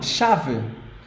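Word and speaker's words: chave: one shave shav important in Portuguese this sound or this this sequence of words CH H it sounds like sh sh just like in English you write the s h so in Portuguese CH is sh sh not like in English Okay not CH It's Just sh so this word sh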